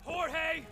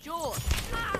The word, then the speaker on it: Jorge: one up gets it Jorge my name's pronounced George don't you back talk